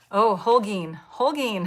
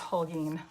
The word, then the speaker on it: Holgeen: Our son is, Holgeen. Haha. See, I've been doing it wrong too. Our son is a teacher, so he goes by Mr. H. For that reason, it's pronounced Holgeen.